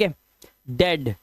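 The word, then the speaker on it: head: कुछ वर्ड्स में इ ए का उच्चारण ए ही होता है। जैसे डेड अब इसको अब इसको आप वो नहीं पढ़ेंगे जो अभी पढ़ रहे थे आप। ठीक है? डेड हेड हेल्थ हेल्थ haven jealous jealous ब्रेड ब्रेड ए की आवाज।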